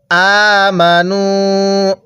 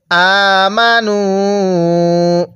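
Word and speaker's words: آمَنُوا: কি জন্য লেখা হয় হ্যাঁ এই আলিফটা লেখার সময় আসবে পড়ার সময় আসবে না কারণ আরবিতে যখন কোন একটা বহুবচন বোঝানো হয় ওই শব্দ শেষে এরকম একটা আলিফ লেখা হয় তাহলে আমানু এরপরে ফায়ালামুনা আইনটা চাপ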